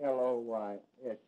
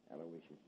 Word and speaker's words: Aloysius: Yeah, spell that middle name right. It's A-L-O-Y-S-I-U-S, Aloysius.